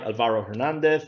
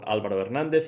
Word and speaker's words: Álvaro Hernández: Álvaro Hernández, or Álvaro Hernández, if you pronounce in Spanish.